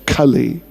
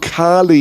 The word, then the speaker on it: Kali: Kali the personality of Kali Yuga the presiding deity of Kali Yuga Kali himself not Kali Kalima not Kali Kali with a short a Cully this is not Carly yoga it is Kali you go yeah the age